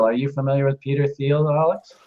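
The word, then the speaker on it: Thiel: but this guy Peter theel are you familiar with Peter theal Alex I believe it's pronounced teal by the way oh sorry yeah uh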